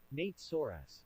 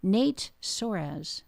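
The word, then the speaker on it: Nate Soares: Nate Sorz. There we go. It worked. Okay. So, uh Nate Sorz. There we go. Nate Sorz.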